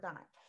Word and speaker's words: dime: Okay, this is the word dime. Dime has a silent E.